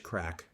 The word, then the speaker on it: craic: bit of traditional Irish craic. And for an old fart full disclosure, that's spelled c r a i c. It sounds like drugs, but it just means fun, good music, and good company.